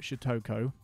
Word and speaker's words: Shutoko: Shutoko, Shikoko. Shutokio, Shutoko. That's how you say it.